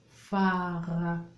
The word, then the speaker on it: phare: mot phare, regardez bien, phare, la syllabe P-H-A, fa, la syllabe fa, fa, fa.